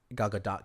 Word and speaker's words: Gal Gadot: League was pretty good gal gadot's character is gal gadot character I'm sorry that's how you say her